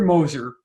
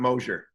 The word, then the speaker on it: Moser: It's Moser, not Mosier. You know who you are. I had to start you know who you are. So was that the Polish version? Is that the Moser? There's just so many worse things that rhymes with Mosier.